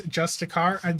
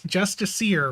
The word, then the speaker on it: Justiciar: It's because no one can pronounce Justicar. Yeah, it's Justiciar, right?